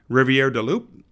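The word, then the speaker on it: Rivière-du-Loup: A little bit more of a French flare there going on.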